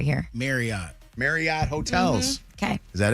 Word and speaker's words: Marriott: It's the same way with Marriott. It is not Elliot Marriott. It is Elliot Marriott.